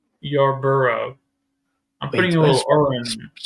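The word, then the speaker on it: Yarbrough: Y bro. Okay, that's what I thought. But the R is actually right after the B. It seem like it's Y bro.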